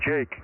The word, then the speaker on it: Jake: Hey, Mike, his name is Jake, Jake.